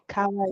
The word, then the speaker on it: kawaii: I'm from Hawaii. So it's kawaii.